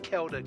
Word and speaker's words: Keldic: I keep forgetting it's pronounced Keldic, not Seldic.